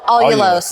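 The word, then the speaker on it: allulose: Olos. It's spelled A L L U L O S E.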